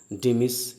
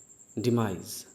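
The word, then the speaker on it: demise: यस, इसका pronunciation डिमिस या डिमाइस नहीं है, बल्कि इसका प्रोनाउंसिएशन है डिमाइस। राइट, डिमाइज ज अंत में बोलेंगे।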